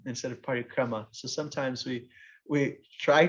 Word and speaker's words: parikrama: a we just made up a word our party crumb instead of parikrama so sometimes we we try to sound indian